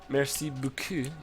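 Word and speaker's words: merci beaucoup: French it's me right except you wouldn't emphasize any part of the Buu it was just messy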